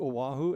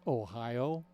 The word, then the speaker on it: Oahu: and said, you know, remember when we went to Oahu? And this other guy who thought he was a know-it-all says, I think it's pronounced Ohio.